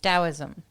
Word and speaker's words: Daoism: Daoism.